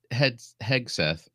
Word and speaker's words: Hegseth: I mean, you got Pete Hegseth. Okay, I said it right the time.